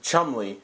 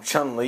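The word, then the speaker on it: Chumley: chun lee chun li chum lee i always say i always always mispronounce his name and call him chun li even though that's not what it is get your game on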